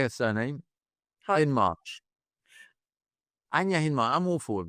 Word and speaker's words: Hindmarch: Hindmarch.